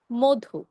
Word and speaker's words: মধু: হ্যাঁ, একইভাবে মধু না বলে আমরা বলছি মধু, কেন? রস্যকার রয়েছে। রস্য উকার থাকার কারণে আমরা কি বলছি? মধু।